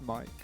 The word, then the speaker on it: mic: It's pronounced Mike, not Mick.